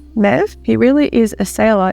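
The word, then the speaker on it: Möwe: It's a German word. It means seagull. The pronunciation is kind of like, Mev?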